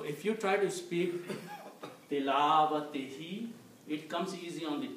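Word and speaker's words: تلاوته: So haqqu tilawatihi means right of the recitation. Okay? Haqqu tilawatihi means the right of recitation. When people pronounce it this way, tilawatihu, it is not easy on the tongue.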